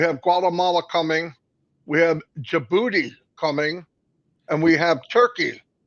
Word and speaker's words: Djibouti: We have Djibouti coming, and we have Turkey you said it right. coming. Yeah, I always want to say the D, but Yeah, Robin told me, I do know.